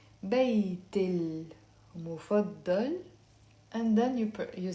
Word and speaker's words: بيتي المفضل: Okay, but I'm not going to pronounce it بيتي المفضل like that. We will pronounce it with a liaison. بيت المفضل, and then you say it.